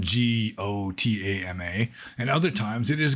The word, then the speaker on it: Gotama: the Pali language, it's Gotama. And it's almost the same because, like, for example, the Burmese pronunciation of the letter O is essentially like AU. It's a diphthong, O. Gautama.